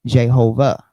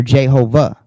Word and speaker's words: Jehovah: So it says in Latin script the Hebrew Y became I or J and W became V or U giving aha and eventually in the English form uh ehuva excuse me. Um and eventually in the English form Jehovah.